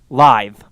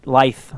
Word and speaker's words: lithe: Okay, so apparently it's pronounced live. Not life, but live. I almost thought it was loth or lathe, based upon the pronunciation key on the page, because it's spelled Lahyth, but I guess Lah would normally be pronounced la. So, and then live.